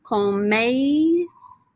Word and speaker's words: coméis: Vosotros coméis, with the accent on the E.